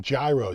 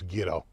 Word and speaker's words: gyro: asked her I said so how do you pronounce the we call him gyro she goes ghetto you know you know